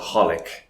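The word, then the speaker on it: xxxHOLiC: doesn't exist oh no they just don't pronounce it that's why it's called holic or hunter hunter three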